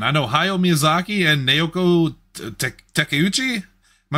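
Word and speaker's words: Naoko Takeuchi: names from Japan I know ha Miyazaki and naoko teuchi am I mispronounced that Lindsay yeah no you got it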